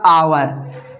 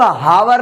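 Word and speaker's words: hour: तो इसको हवर ना पढ़ते हुए आवर पढ़ेंगे।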